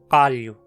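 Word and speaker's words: qallu: Uma consoante uvular muito comum mundo afora é K. Para pronunciá-la, fale um K com a língua mais para o fundo da boca, para que encoste na campainha. K, K. Um exemplo de seu uso é na palavra calho, na língua quichua, a língua dos incas.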